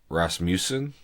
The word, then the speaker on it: Rasmussen: headed that way for their second uh uh Rasmussen is that how you pronounce it yep okay uh Daniel Hudson went